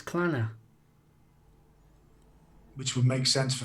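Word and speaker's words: Clannad: Well, we're saying Clanad wrong.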